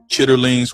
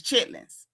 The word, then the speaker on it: chitterlings: Now I know the bucket say chitterlings, but chat if y'all know the proper pronunciation of this is chitlins.